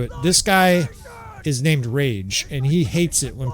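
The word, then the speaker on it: Raaj: This guy is named Rage, and he hates it when people call him Raj, even though it's R-A-A-J.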